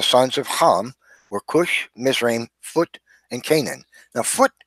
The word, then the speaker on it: Mizraim: Masaru mystery Missourians like this and named after Miss Raine so to this very day we find and